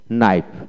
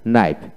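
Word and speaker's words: knife: তারপর আসেন নাইফ, নাইফ কে উচ্চারিত হবে না, NAIF, নাইফ।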